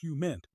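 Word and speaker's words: HUMINT: Human intelligence human pronounced hu mint as defined by the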